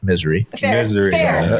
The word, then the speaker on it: Missouri: unless you're unless you're from Kansas and it's misery I think that's anywhere but pretty much yeah